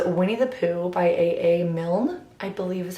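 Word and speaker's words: Milne: and it is Winnie the Pooh by AA mil I believe is how you pronounce his last name I've actually never read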